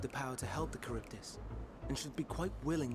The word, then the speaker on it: Charybdis: I'm given to understand you have the power to help the Charybdis, and should be quite willing to do so. Kiribis, that's what it's called. Or that's how you say it.